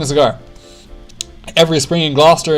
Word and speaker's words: Gloucester: Every spring in Gloucester, England, or Gloucester, as I'm sure people pronounce it, participants chase this food